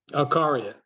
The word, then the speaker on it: Acaria: pronounced correct let me make sure I can pronounce it correctly akaria yeah you're right all right car is with